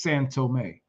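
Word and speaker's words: São Tomé: It's actually pronounced as San Tome.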